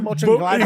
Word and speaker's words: Mönchengladbach: names to make it easier for us to pronounce? There's a club called Borussia Mönchengladbach.